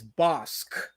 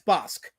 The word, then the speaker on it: Bosc: He says I you can hear his name pronouncing. It's Bosque. Bosque. Okay, so there we go. So I've said it wrong.